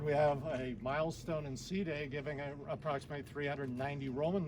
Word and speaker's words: Side: the Mediterranean court at Sea day is spelled s-i-d-e in case you see it's not side but seating so this is extremely important